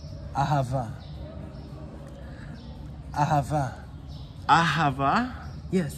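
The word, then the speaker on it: אהבה: What is love in Hebrew? It's ahava.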